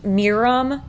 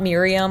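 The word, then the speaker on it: Mirum: dozens so this first one is Miriam it's pronounced Miram not Miriam like the woman's name can you tell that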